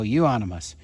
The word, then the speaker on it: Euonymus: No, Euonymus. All right, so that's how this is pronounced.